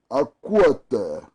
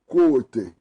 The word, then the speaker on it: Akoetey: Akwete or Akwete is spelled Akoetey. Yeah? Akwete.